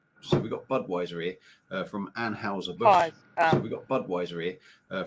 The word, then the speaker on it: Anheuser: a bush reportedly yeah they say Anne Houser bush yeah but it's Anheuser yeah it's weird that's